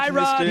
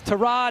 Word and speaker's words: Tyrod: as we've been pronouncing, he wants to pronounce Tyrod Taylor from now on. So I'm trying to make the switch there. You know, it's tough. It's tough he to make says the switch Tyrod, he says Tyrod.